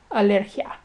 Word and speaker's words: alergia: The ia in alergia is treated as one syllable, and it's pronounced alergia.